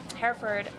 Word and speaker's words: Hereford: Hereford Did I say that right? Hereford, you said it right, yep.